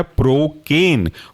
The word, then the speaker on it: procaine: तो इसके अंदर का पहला एग्जांपल है प्रोकेन। प्रोकेन के स्पेलिंग सिंपल है प्रो, PRO, और केन, CAINE, प्रोकेन।